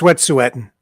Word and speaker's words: Wet'suwet'en: disturbed me is that Wet'suwet'en protesters, right? Mm-hmm. You see, Wet'suwet'en. Pardon me? No, it's Wet'suwet'en. It is. He's got it right. Yeah, Wet'suwet'en.